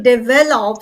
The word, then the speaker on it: develop: there okay all right so develop so it has three syllables they V love so develop right and I'm putting the stess on the second syllable second Sy develop develop